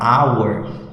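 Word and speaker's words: hour: palavra our né versão do H é mudo ele não é pronunciar Então logo podemos utilizar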